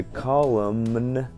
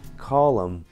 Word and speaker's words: column: Вместо column, как колонна, нужно говорить column.